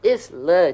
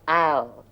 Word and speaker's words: isle: Oh, you mean the lake is Not Isla, Chandran. It's pronounced Isle. It's another word for island.